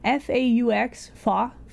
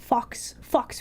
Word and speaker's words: faux: You know, the word F-A-U-X, fox fur, that's how I want to pronounce it. And I'm like, wait, no, hold on. It's faux.